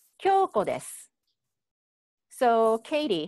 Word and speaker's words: です: you, u sound because we don't pronounce that so strongly when you have it at the end. So I would say, Kyoko desu. Kyoko desu.